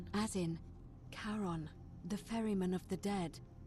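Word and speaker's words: Charon: Only your pronunciation is a little off. The name you heard wasn't Karen. It was C H A R O N. Kon, as in Karon, the fairyman of the dead.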